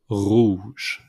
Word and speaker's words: rouge: Red is pronounced rouge.